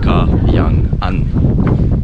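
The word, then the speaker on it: Kayangan: I don't know why it's so difficult for foreigners to pronounce it. It's Cayenne. It's not hard.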